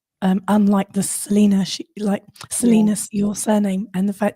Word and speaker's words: Salina: I'm like, well, they pronounce it Salina, but we know it's Salina.